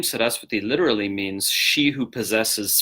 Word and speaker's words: Sarasvati: where the stress goes set us with thee okay the V is pronounced like a w more like W to the English speakers here set us with thee okay so now we'll